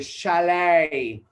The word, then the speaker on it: chalet: chalet right this this this word is not challenge not charlotte it is chalet shall we shall we